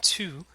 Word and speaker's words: tu: And tu has the same vowel sound as the second syllable of salut.